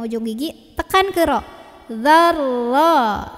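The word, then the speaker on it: ذرة: Mithqala dzarra. Dzal gigit, ujung lidah ketemu ujung gigi, tekan ke ro. Dzarra. Jadi jangan za-nya dipanjangin. Za-nya pendek, tekan ke ro.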